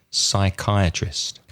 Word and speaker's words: psychiatrist: o una psychiatric correct difficult spelling again P sy c hi-8 ER IST silent p psychiatrist like Salem P and psychologist the